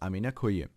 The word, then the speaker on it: amina koyim: Ausgesprochen heißt es Aminakuyum.